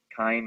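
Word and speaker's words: chyme: and the gastric juices now called k Kim is spelled c h y m that K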